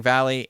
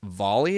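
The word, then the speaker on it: Vahle: I've been saying Valley, and it's Volley, apparently.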